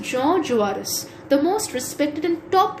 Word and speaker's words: Jean Jaurès: It's pronounced Jean Jaurès, the most respected and top leader of the socialists.